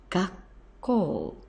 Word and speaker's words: 学校: moment, to make this combination word, which is pronounced gakkou, gakkou, and it means school.